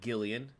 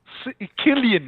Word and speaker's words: Cillian: It is Cillian, not Gillian. Killian, not Cillian. I heard people pronounce it Killian.